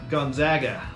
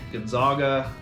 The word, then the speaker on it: Gonzaga: college athletics and and yeah Gonzaga a lot of people say Gonzaga and it hurts it hurts when we when we hear it